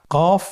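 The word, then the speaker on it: ق: কফ উচ্চারণের ক্ষেত্রে একটু মোটা করে উচ্চারণ করতে হবে। আপনারা আমার সাথে আবার বলুন কফ। আরেকবার চেষ্টা করুন। কফ। কফ উচ্চারণের ক্ষেত্রে অবশ্যই তিন আলিফ টেনে পড়তে হবে।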